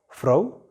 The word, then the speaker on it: Frau: Frau. Here also you pronounce it because it is appearing in the middle of a word.